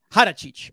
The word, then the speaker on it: Haračić: Before we do the intro right here, DiDi, I just want to make sure your the proper pronunciation for your last name is Haračić. Haračić.